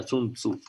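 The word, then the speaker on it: 孫子: Tzu, o Sun Tzu, pero en cantonés se pronuncia Sun Tzu.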